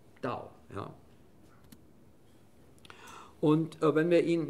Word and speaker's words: Dao: Früher Tao geschrieben, aber ausgesprochen Dao.